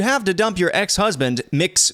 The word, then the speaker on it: Mx: Quote, if you have to dump your ex-husband, Mix Benson said, that's MX, I think that's how you pronounce it, Mix Benson said, co-dump him with his mistress.